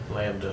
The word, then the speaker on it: lambda: Lambda. Yeah, but real shortly, lambda. It's almost as a transition, lambda.